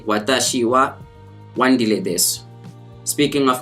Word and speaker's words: は: learned for the Japanese language it involves the wall particle and as you can see the wall